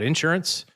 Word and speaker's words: insurance: Next week, we're going to talk about insurance, or Doug loves it when I put the accent on the first part of that.